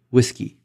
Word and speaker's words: WSGI: Community standardized on the whiskey protocol which many people pronounce similar to the word whiskey having a standard protocol